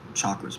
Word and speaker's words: chakra: Don't say chakras. I'm trying to align my shit. What the hell? Chakra. Chakra. You gotta say it correctly, bro.